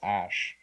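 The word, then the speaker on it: æ: it which was stupid the AE sign is pronounced as ash like a sh and I don't know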